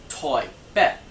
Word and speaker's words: 台北: Taipei is pronounced Toi Bet.